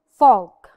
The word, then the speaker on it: folk: one of the three vowels we do not pronounce it could could another example Folk Folk folk tale Yani a folktale Fox lips